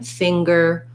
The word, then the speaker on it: finger: videos for that but there are sometimes like in finger or hunger where we have an ng sound plus a g sound so you want to